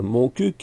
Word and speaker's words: Montcuq: Notre commune, Montcuq, il faut bien prononcer le cul, c'est sûrement pour cela